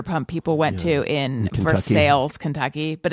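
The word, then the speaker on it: Versailles: all the Vander pump people went to in ver sales Kentucky but it's spelled vers but it's pronounced for sales oh is that really the name of oh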